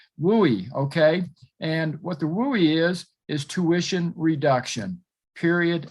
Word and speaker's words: WUE: true well guess what it's pronounced so don't say woo or whoa or what okay and what the wooie is is tuition reduction